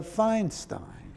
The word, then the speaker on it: Feinstein: But EI, as in my name, is pronounced I.